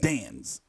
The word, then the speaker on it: DAZN: you know the zone it's spelled a the AZN dance but nonetheless I've been